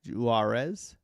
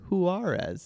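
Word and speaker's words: Juárez: Loza, French Toaster, Matt Bau, Magic Mike, Isaac, Juarez, Juarez. I I just butchered your name. I'm sorry. Huarez. It's Huarez, isn't it? It's with a H.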